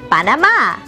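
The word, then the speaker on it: Panamá: spanish it is pronounced panama notice nuevos amigos that it has an accent acento on the last a we will learn about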